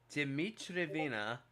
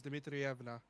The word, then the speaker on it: Dmitrievna: Dimitrievna is a patronymic. No, you mispronounced it. It's Dmitrievna.